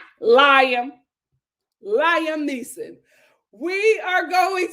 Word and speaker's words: Liam: I'm not even mad at you mispronouncing that. What is it? Liam. It's Liam.